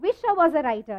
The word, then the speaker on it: Wisha Wozzariter: So it's called Visha Was a Writer, yes. And it's wordplay because the girl's name is Visha.